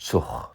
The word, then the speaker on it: Zug: You may also have noticed how the G at the end of a syllable sounds like h or ch, not k.